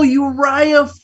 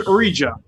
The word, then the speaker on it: Uriah: I'm like, oh, Uriah Flint. I follow him on YouTube. I just never heard him say his name before. I thought it was Urija.